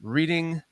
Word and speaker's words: Reading: Bruha 7, Relentless Mikey, Rick Gonzalez, my man Chris Reer from Reading.